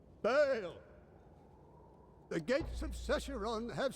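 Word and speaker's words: Baal: Wait, is it Bale or Ball? I thought it was Ball. No, it's Bale. I think there was several mispronunciations. Long A. Bale!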